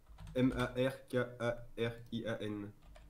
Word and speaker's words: Markarian: M-A-R-K-A-R-I-A-N. Markarian, d'accord, comme ça se prononce.